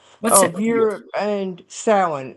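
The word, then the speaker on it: Samhain: It's known as sin in the pagan tradition of Europe. And sin, s a m h a i n. It's Gaelic. So it it's pronounced nothing like it.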